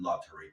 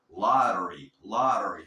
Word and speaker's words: lottery: Lottery. Cada vez que tengas una T entre sonidos vocálicos, la vas a pronunciar como R suave.